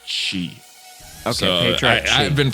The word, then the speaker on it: Qi: name do you say Chi I think it's supposed I looked at what Qi is in China then I think it's pronounced she so i've been pronouncing